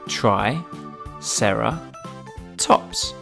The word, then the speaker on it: Triceratops: the brilliant ankylosaurus now it's time for Triceratops try Sara tops can you say it with me try Sara tops let's learn all about Triceratops Triceratops was found